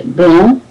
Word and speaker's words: blanc: So, but I noticed when you said blanc, you said blanc. So you did pronounce a hint of a k at the end. So que in blanc is not there. Okay, blanc, noir, brun, brun.